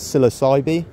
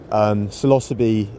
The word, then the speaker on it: Psilocybe: So in the UK, we pronounce the genus Psilocybe as Psilocybe. Psilocybe is more of an American pronunciation. You could even say Psilocybe. You know, there's nothing in the literature that sort of explicitly states that it has to be silent, but no one really says it like that, although you will be understood.